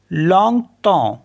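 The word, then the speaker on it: longtemps: पर ईम आ रहा है इसको पढ़ेंगे हम लंग तो लंग तो लंग तो मीस फॉर अ लॉन्ग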